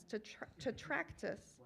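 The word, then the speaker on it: Tetractys: You guys, it's spelled T-E-T-R-A-C-T-Y-S, Tetractus, and the Ohio Trombone Quartet.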